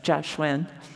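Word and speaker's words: Kiahsuang: Hsu and my mom's name is k-i-a-h-s-u-a-n-g it's pronounced joshuan but it's different if now it would probably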